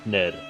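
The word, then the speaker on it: hackneyed: overused unoriginal and trite hack hack nid yeah so I had it right the first time hacknet hack needid stupid silent letters what's more she's not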